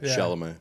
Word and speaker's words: Chalamet: Chalamet.